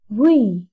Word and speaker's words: V: In this video, we are going to learn how to pronounce BTS members' names correctly. RM, RM, RM stands for Rap Monster. V, not we.